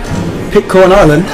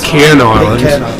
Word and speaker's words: Pitcairn Island: Pitcorn Island? Pitcorn Island. Oh, is that not how you pronounce it? Pitcairn Island.